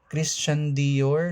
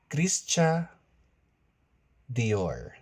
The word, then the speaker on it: Christian Dior: Burbery Christian Dior. No, it's Christian Dior.